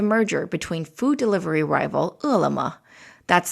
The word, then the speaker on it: Ele.me: finalization of the merger between food delivery rival ulama that's spelled e-l-e-m-e and alibaba's new retail subsidiary kobe